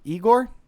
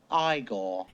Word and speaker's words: Igor: let's get into it igore eigor now it's pronounced igore Igor's theme ladies and